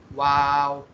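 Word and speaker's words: واو: कि वाव किस तरह प्रोनाउंस होता है? वाव वाव। के होंठ हमारे दोनों इस्तेमाल हो रहे हैं, होंठों से ही हमारे जो है ना हर्फ प्रोनाउंस हो रहा है, लेकिन इसमें हम होंठों को बंद नहीं कर रहे, हमने इसमें होंठों को खुला रखा है, इसके दरमियान गैप दिया हुआ है।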